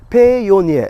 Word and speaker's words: Payoneer: Payoneer. It's almost like Pioneer, but it's called Payoneer.